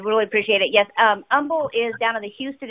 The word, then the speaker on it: Humble: the coordinator of in humble isd that h is silent and um i have